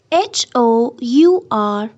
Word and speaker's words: hour: n listen F part h o u r our it's not how it's our H is silent n hour G part